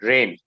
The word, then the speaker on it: reign: first england grew prosperous during queen victoria's rain rain is how we pronounce the word rain rain rain and rain rain basically means rule